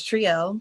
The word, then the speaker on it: Trielle: My name is Trielle, pronounced like tree in the letter L.